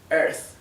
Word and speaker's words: Earth: eh otro ejemplo acá Earth entre una e y una a no es Earth y no es Art es Earth Sí bueno acá Evil